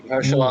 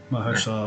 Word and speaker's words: Mahershala: Really Mahershala Ali. I was close. Yeah. Mahershala Ali.